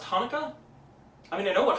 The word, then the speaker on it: Chanukah: No, I know, it says CH, but no, that's... Wait, it's pronounced Hanukkah?